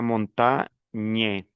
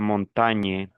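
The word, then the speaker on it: montagne: Entonces, gn cuando se une con una de estas vocales, el sonido sería ña, ñe, ñi, ño, ñu. No puede sonar individualmente la g ningún motivo, la g sola. Entonces yo digo españe, español la montañe.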